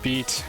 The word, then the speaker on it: bite: Bite pronounced beat means dick.